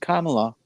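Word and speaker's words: Kamala: made it very clear that the name is pronounced kamla but now you hear now you hear the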